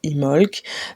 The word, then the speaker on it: Imbolc: va commencer alors oui je dis imbolk mais du coup c'est comme ça certains prononceront ça imolk d'autres prononc sera peut-être encore autrement voilà comme nous sommes